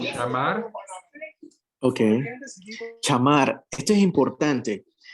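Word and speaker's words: שמר: Aquí yo le quiero pedir a nuestro hermano si me puede pronunciar este verbo, que ya se me olvidó la pronunciación. Chamar.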